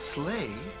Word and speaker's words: sleigh: And the word sleigh rhymes with play.